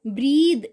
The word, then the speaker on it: breath: अगर इसकी स्पेलिंग होती BREATH तो ये होता breath.